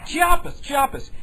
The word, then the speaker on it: Chiapas: And I understand Chapata. Wait, I didn't pronounce that correctly. Chapatas. Is it Chapatas? Chiapas.